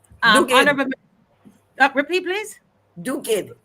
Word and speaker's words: Duguid: It was about February 16th or so that Minister DUGUID, DUGUID. Honorable, repeat please. DUGUID.